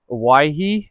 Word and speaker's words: Owyhee: It's the Argali Owyhee, I believe is how you say it.